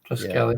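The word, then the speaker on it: Triskele: Triskelly. Yeah. Well, I've heard some people say Triskel as well, but I've heard it more as Triskelly.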